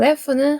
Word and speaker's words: laugh: 자, laugh 할 때 GHF 발음이에요. 그 다음에 항상이라는 수거 표현이 all the time이라는 표현이 있습니다.